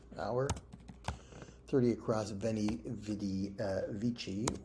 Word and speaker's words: vici: 30 across, veni, vidi, vici, or wiki, if you prefer the old pronunciation.